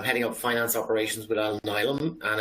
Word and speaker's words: Alnylam: So yeah, I'm heading up finance operations with Alnylam, and it's A-L-N-Y-L-A-M, pronounced A-L-N-I-L-A-M.